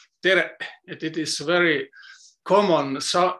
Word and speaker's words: tere: letter Q, and it you should pronounce like glottal stop, tere, tere.